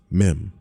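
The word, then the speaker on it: מם: is here right now the Hebrew letter meim pronounced meim means water or seas in occultism it stands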